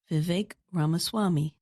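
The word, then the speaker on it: Vivek Ramaswamy: The correct way to say his name is Vive Ramaswami.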